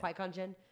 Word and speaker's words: Qui-Gon Jinn: How do you pronounce Qui-Gon Jinn. Qui-Gon Jinn.